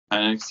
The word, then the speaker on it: Penix: That's how you pronounce it? Penix, yeah.